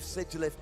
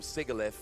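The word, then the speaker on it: Sigilyph: for the pronunciations oh I always called it sigilith I believe sigilith is correct because again this is one that I used to call sigalif for way too long and like I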